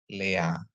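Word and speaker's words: לאה: Terus ada lamet dikasih sere, ini sere, ingat Bapak Ibu sere ya. Dikasih alef, dikasih kamats jadi a, jadi bacanya adalah lea. Ya, lea.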